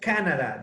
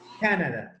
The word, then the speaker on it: Canada: In English, it's Canada. The accent goes in the first syllable. Canada.